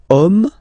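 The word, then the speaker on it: homme: we've got the word om man okay but then it start with Ash as in French Ash is not pronounced so the first sound that we hear is O Okay and then it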